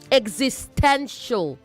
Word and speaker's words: existential: Also say existential, not existential. Existential. Okay. Existential.